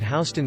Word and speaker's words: Houston: example would be that Houston Street in New York City is pronounced like house rather than like Houston Texas so you can typically